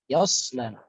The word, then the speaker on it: يصلى: Yaslan. Perhatikan huruf shadnya, jangan sampai kita membacanya ta, sa, lagi sya. Yas, sh, sha kalau kita atau sho. Yaslan, so. Udaranya dari samping-samping sini ke depan.